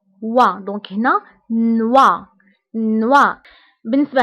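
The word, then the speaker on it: noix: بالنسبة لنوي كتعني ليل، فقلنا أن أو إي كتقرب و، دونك هنا نوا نوا. بالنسبة هنا إكس لا ننطقها، دونك نوا هو الجوز، نوا.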